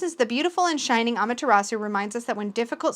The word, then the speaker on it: Amaterasu: one first figure but here it pronounced amateur rasu amaterasu so i think i'm saying that right so this is the beautiful and shining amaterasu reminds us that when